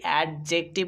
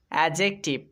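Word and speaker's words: adjective: হ্যাঁ এটা আমরা অনেকেই অ্যাডজেক্টিভ উচ্চারণ করি কিন্তু যদিও এটা ভুল উচ্চারণ এটার সঠিক উচ্চারণ হবে এডজেক্টিভ এখানে কিন্তু ডি টা সাইলেন্ট হয়ে যাবে এডি তে পড়তে হবে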